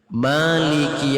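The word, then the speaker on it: مالك: Maliki Yaumiddin. Ada yang membaca panjang ma-nya, ada yang membaca handap.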